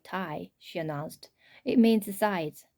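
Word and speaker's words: taille: up from the computer it's a french word pronounced like tai she announced it means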